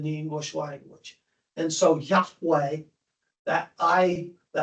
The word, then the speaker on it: Yahweh: Jehovah was not at all the pronunciation. Yahweh or It would have been Yahweh or something like that.